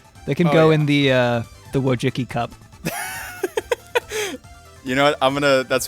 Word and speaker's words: Wojcicki: They can go in the Wojcicki cup.